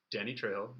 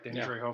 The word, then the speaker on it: Danny Trejo: I had Danny Trejo. That's how you pronounce his name, right? Yeah, Danny Trejo from Everything.